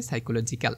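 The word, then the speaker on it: psychology: হবে এটাকে ঠিক আছে এখানে দেখো সামনে আছে কি পি কিন্তু পি এর উচ্চারণ হচ্ছে না সো কি দিয়ে উচ্চারণ হচ্ছে সাই এস ওয়াই সি দেখতে পাচ্ছ তারপরে কলোজি ঠিক আছে এইভাবে কিন্তু আছে সো তোমার সামনে শুধু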